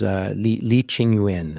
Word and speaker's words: Li Qingyuan: I think his name was Li Qingyuan, at least English pronunciation of his name.